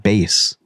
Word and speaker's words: Bass: His last name is actually pronounced Bass.